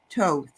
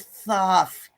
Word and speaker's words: Thoth: uh a message from is it Toth Toth I've been pronouncing that wrong I always thought it was Thoth yeah so yeah total